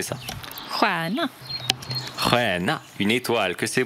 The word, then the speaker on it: stjärna: Juana. Juana, une étoile, que c'est beau. Juanur. Atita por Juanur. Regardez les étoiles. STJ se prononce encore une fois de la même manière, comme SJ. Juana.